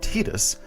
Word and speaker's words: Tidus: You might also point out that this pronunciation in Japanese evokes not the tide, but the sun, which is more consistent